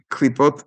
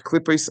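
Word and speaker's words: קליפות: Shalosh klipot hatameot. Or in my pronunciation, shalosh klipos hatameos. That's how us Ashkenazim pronounce it.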